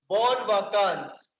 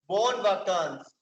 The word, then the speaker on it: bonnes vacances: Bon vacances. Bon vacances. अब यहाँ पर भी you can see that both words bon and vacances is ending with s, but I'm not pronouncing it because it is consonant.